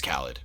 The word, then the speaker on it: Khalid: I think it's Khalid. Yeah, that makes more sense. It's spelled like DJ Khaled.